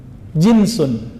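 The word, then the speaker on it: جنس: Jinsun, jins. Pakai jins nggak Pak? Itu beda lagi ya. Jins itu bacanya ya. Kalau ini jinsun, jim nun sin.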